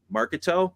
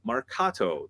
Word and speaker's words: marcato: Okay you're going to do this Marcato in Marketo no Marcato that it's pronounced Mercado March like cool we did it